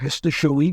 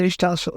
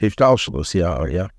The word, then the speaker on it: Hishtalshalut: In the sense that the Seder Histoshalit, is that how you pronounce it? The what? The Seder Histoshalit, the order of evolution. Seder Hishtalshalut. Hishtalshalut, yeah.